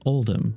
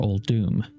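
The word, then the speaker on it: Uldum: We know this as Oldm or Old Doom, really depending on how you pronounce it.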